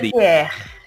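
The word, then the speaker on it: Dentière: de uma mulher né que é a Marie dentier dentier ou Marie dentier dantier dantier dantier dantier né dantier é a a pronúncia né Zilma Pois é e hoje a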